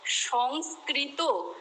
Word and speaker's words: সংস্কৃত: এটা হবে একটা স বলতে হবে তোমাকে, তাহলে সংস্কৃত, সংস্কার, এটা মনে রাখো। একবারে সংস বললে তারপরে কৃত বললে, একবারে সংস বললে তারপরে কার বললে, যে সংস্কার বলতে বলতে অভ্যেস হয়ে যাবে।